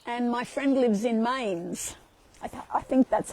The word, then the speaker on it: Mainz: And in Germany, I'm going to be down, I fly into Frankfurt, and my friend lives in Mainz. I think that's how you pronounce it, M-A-I-N-Z, Mainz.